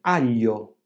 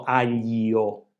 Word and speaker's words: aglio: E questo succede quando è seguita da un ulteriore vocale, come aglio, non diciamo aglio, aglio o consiglio.